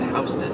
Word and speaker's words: Houston: uh the Houston Mall which is spelled like Houston but it's really pronounced Houston or whatever whatever reason